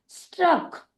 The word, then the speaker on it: struck: जब कभी भी सी और के एक साथ आते हैं तो हम उसका उच्चारण क ना करते हुए क करते हैं, एक ही बार क करते हैं। इसीलिए STRUCK हो जाएगा स्ट्रक।